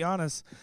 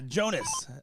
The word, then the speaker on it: Jonas: Lisa is saying his name is Jonas. See, someone told me that it that he was pronouncing it Giannis. So, I was saying it like that, but uh Jonas, there we go.